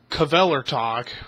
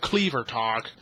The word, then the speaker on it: Kvelertak: First Carcass did it on Surgical Steel, then Kvelertak, which I'm pronouncing it right instead of Cleavertalk.